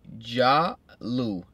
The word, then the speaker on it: Jahhlu: so this right here is called sanctioned by jahlu it's spelled ja with two h's Lou with the